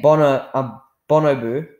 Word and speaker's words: bonobo: Some of the evidence he included in the argument for fruit being the denser food source was that a bonobo, that's how you pronounce it, it's a primate, and it has 99.4% of the same genetic material as we do.